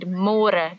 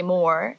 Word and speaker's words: môre: It's a little bit easier, but you have to remember to read môre, because in English it's spelled like more. So don't say more, say môre. And the older generations of Afrikaans people, they might say it a little bit differently, and they sometimes say môre, but it's more commonly used as môre.